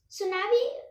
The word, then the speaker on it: tsunami: me tell you that it is not cause like to tsunami because tea is silent okay this is called like salami waves tsunami tsunami waves are also